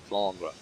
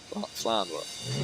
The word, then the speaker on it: Flandre: And you pronounce it in French, apparently. How do you pronounce it in French? Flandre. Flandre.